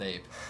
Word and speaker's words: A.P.E: kind of confusing okay a-p-e yeah it's the acronym yeah so it's not really supposed to be pronounced ape it's got it so